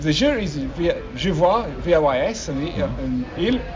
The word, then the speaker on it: vois: And the il and the je, if the je is je vois, V-O-I-S, and il, V-O-I-T, but given you don't pronounce the S or the T, je vois, il voit, they sound the same.